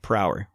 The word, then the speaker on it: Prower: It's spelled Prower, per hour.